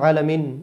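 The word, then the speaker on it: العالمين: আলহামদু আলহামদুলিল্লাহি রব্বিল আলহামদুলিল্লাহি আলহামদুলিল্লাহি লা একলি হা মোটা হবে লিল্লাহি রব্বিল রব্বিল অনেকে আলামিন বলি আনা এখানে আইন আছে আইনটাকে কন্টনের মধ্য থেকে বলতে হবে আলামিন।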